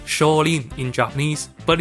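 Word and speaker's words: 少林: It's pronounced Shaolin in Japanese, but it's the same exact name.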